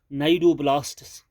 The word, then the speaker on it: cnidoblasts: They are called as नाइडोब्लास्ट्स. सी इसका silent है यहाँ, CNIDOBLASTS, नाइडोब्लास्ट्स हैविंग, इन सेल्स के पास एक टॉक्सिन होता है, हैविंग टॉक्सिन, उस टॉक्सिन का नाम है निमेटोसिस्ट.